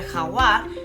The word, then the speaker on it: jaguar: Y en inglés se escribe igual, se escribe jaguar, pero la pronunciación es un poco diferente. Jaguar se diría jaguar.